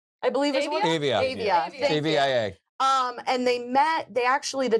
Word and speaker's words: Avia: It was in I'm gonna pronounce this wrong. Avia shoe, I believe is what Avia. Avia.